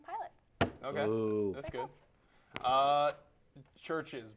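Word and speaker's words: CHVRCHES: Churches, but the band that's spelled with the V, Yeah. not the U.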